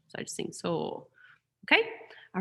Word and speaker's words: sol: And for so, it's spelled soul, like solfege, but we just sing soul, soul. I don't do the L, because that tends to mess with our pitch. So I just sing soul, okay?